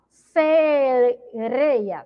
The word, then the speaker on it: sereia: Observem, quando a Pro pronunciou sereia, que ela tem aí um som forte. Por que, Pro? Ele tá, ó, uma letra re entre duas vogais, ó, que é a vogal E, tá bom?